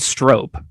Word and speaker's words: strop: It's spelled strope, but I think it's strop.